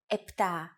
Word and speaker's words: επτά: Sometimes, though, especially in casual conversation, Greeks also use efta instead of epta, ochto instead of okto, and enea instead of enea.